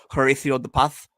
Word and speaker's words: Horacio De Paz: I insist that you pronounce the name Horacio De Paz, the appropriate Spanish dialect, where it's Horacio De Paz.